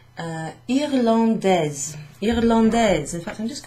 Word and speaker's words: irlandais: I, R, L, A, N, D, A, I, S. Now, before I put the final letter on, this would be pronounced irlandais.